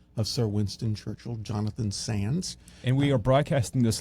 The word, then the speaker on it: Sandys: i c i stupidly corrected her and said it's actually pronounced Sans and uh she thought